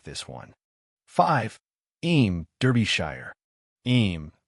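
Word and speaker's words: Eyam: Em Derbyshshire. Em pronounced EM is known as the plague village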